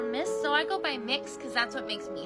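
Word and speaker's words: Mx.: It's Mix. So kind of like cookie mix or mixing bowl.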